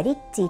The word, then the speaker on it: リチ: リックスといいえ正式な相性はリッチーと言ったそうですが日本人が発音しやすいようにリチと名乗りましたえウイン